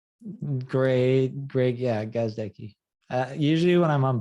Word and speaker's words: Gazdecki: talk with um uh how do you pronounce your last name gazdecki great Greg yeah gosdeki uh usually when I'm on vodcast I literally